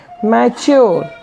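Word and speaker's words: mature: इधर हम कुछ शब्द देखेंगे, इसमें टी यू आर ई होने पर इसका उच्चारण हमेशा चर नहीं होता। जैसे देखिए एम ए टी यू आर ई, इसका मतलब क्या हो जाएगा? मैच्योर, मैच्योर, इसका मतलब होता है परिपक्व हो जाना।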